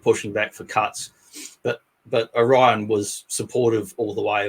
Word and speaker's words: Orion: Not like some of the Americans say it really strangely. Is I it heard them say Orion? Orion, like they say Oreo.